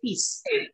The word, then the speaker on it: fils: Didn't you just now say fils, F-I-L-S, and you're now pronouncing the S?